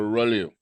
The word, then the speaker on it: rouleau: So it's a rouleau. It's a French word. That's why the AUX is silent, right?